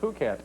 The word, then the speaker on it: Phuket: spell Phu ket hmm it's spelled Phuket yeah yeah they say Phuket but by the end of the thing we were like getting at the phonetic pronunciation of ahu ket that was about it